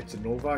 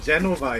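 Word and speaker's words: Jenova: So I guess we're finally going into the room where Genova is.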